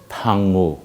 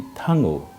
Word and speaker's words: thango: अगर मैं कह दिया कि थांगो, he is going, he is going, spelling is same, THANGO, लेकिन देखिए थांगो, थांगो, तो ऐसा वेरिएशन जो